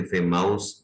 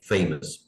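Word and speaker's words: famous: सामने आए लफ्ज तो शायद इसको कोई फेमाउस पढ़ने की कोशिश करे, तो ऐसा नहीं करना, इसको हम पढ़ेंगे फेमस।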